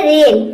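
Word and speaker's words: rain: अगला है रेन। रेन means होता है वर्षा। इसमें भी देखिए ए आई के बाद एन आया है, एन भी आए तब भी हम ए आई को ए प्रोनाउंस करेंगे।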